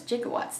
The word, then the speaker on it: gigawatts: just keeps saying 1.21 gigatt I think you could pronounce it gigawatts or gig but he says jigawatts doesn't he I listened to it